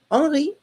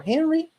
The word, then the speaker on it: Henri: you see Henri Heine, with even the pronunciation that he would have in French for his name, but he's actually German. So Henri, we'll say Henri because it's easier for us, right? Or Henry, you can also think about Henry, right?